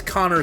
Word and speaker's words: Konr: remember when I was working But- retail, there was a guy who came in whose first name was Connor, spelled Konr. And he was like, yeah, that's actually how it's spelled.